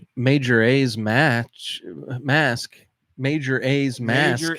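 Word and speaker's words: Majora's Mask: Let's do pronunciation. Major A's match. Mask. Major A's mask.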